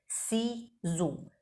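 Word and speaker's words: ciseaux: في الحرف اللي وراها سي زو سي زو سيزو معناها مقص طيب الاكس اللي في الاخر دي مش بننطقها ليه لان سيزو دي كلمه جمع والاكس دي مش منطوقه احنا حطينها عشان نبين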